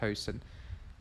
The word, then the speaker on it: Huijsen: I will pronounce it how it should be pronounced, Hoyson.